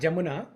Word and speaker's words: Yamuna: is another name for yamuna River okay callind the jamuna because the river yamuna or jamuna okay it's pronounced as jamuna it's yamuna jamuna whatever